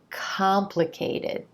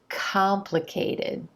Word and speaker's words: complicated: Complicated. Complicated. It's that contrast between the emphasized ah as in olive sound in that stressed syllable and the other quicker